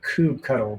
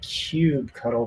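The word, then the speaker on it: kubectl: i just i just i think i pronounced it cube cuddle for the longest time and it never occurred to me that it might be cube control anyway this is a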